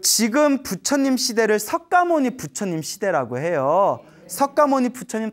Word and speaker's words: 석가모니: 석가족에서 출현하신 성자다 해서 석가모니 인도말로는 샤카무니라고 해요 샤카무니 그래서 이제 우리의 발음으로는 석가 하는데 근데 지금 우리 부처님